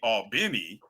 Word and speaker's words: Albany: See, and that's a problem because Albany all corn, but now you want me to call Albany all benny and then you still want me to figure out and remember to say all corn, not alorn.